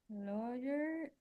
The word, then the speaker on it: lawyer: lawyer lawyer law law the pronunciation is like this lawyer it's like laer laer the letter when you have the letter a ER in the middle sometimes it sounds like an O for example lawyer so the past tense